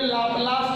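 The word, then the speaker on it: Laplace: जैसे हिंदी में लाप्लास करते हैं, इंग्लिश में लैपलास करते हैं।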